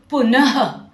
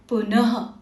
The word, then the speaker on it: पुनः: और इसका जो ध्वनि है इसका उच्चारण ह की तरह एक हल्की सांस छोड़ते हुए किया जाता है। जैसे देखो, पुनः, आपको एक सांस छोड़ते हुए ह का साउंड आ रहा है, पुनः।